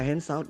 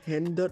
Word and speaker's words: hands out: Jessie itu sebenarnya hand sama out. Gak apa-apa hands out gitu loh. Jangan jadi handot gitu loh.